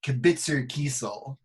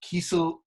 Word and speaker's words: Kesel: I realized I mispronounced your name. It's Kesel. I always thought it was Kesel. It's okay. I actually have cousins that say Kesel.